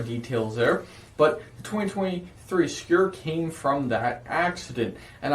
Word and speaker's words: Skur: name uh the name skewer which is pronounced on the spelling on the screen it's like your but with an s k in front of it it's so obscure pretty